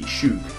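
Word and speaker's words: Schoug: Followed up with Pidgeotto, who is called, and I think I'm pronouncing this right, Shug. C S-C-H-O-U-G, Shoog.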